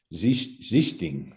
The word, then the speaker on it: Sichting: I mean, I've even asked Dirk Nowitzki, and I think he pronounced it more of a Z sound at the start. Sichting, I think, is how he kind of, but our family Americanized it, that's through the pronunciation.